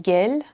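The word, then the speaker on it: گِل: This word, depending on context, can be gel, mud, or gol, flower, or like a goal in soccer or football.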